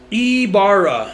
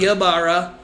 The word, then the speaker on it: Ybarra: How do you say your last name? Ybarra. Ybarra. Yeah. Ybarra. All these years, Ybarra if you want to roll the R's. Ybarra. But it's not Ybarra.